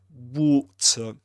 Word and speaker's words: water: This is this word in British English is pronounced in Luke's accent, Southern Standard British English, water, with his long O sound and a schwa at the end.